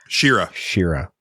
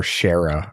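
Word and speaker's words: Shera: Shira, that's it. Or Shara, or whatever the hell it was. However you want to pronounce it. We always did Shara, but yeah, Shira sounds like it could absolutely be right.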